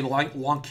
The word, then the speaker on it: Lanque: People are telling me Lanque is really how it's supposed to be pronounced.